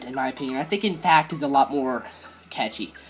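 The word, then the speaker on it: INFAQT: It's called In Fact, and it's spelled I-N-F-A-Q-T.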